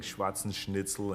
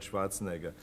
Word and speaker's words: Schwarzenegger: change my name because people started saying schwarzen schnitzel and schwarzenheimer nobody could pronounce it so they said just call it Schwartz so call it call it something different but not Schwarzenegger but I I felt